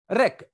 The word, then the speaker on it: wreck: इसमें W के साथ R आया है, W को साइलेंट कर देंगे। रेक, WRECK, रेक होता है जहाज का मलबा।